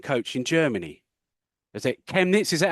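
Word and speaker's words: Chemnitz: come over and coach in Germany is it chemets is that how I pronouncing that correctly correct chemets yes how did that come about well uh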